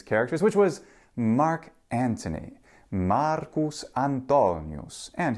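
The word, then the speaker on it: Marcus Antonius: which was Mark Anthony Marcus antonus and his name has that pronunciation in both classical and ecclesiastical Latin pronunciation so why do we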